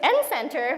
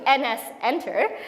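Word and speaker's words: nsenter: understand the namespaces correctly what I was pronouncing his any Center was actually NS enter so I was like oh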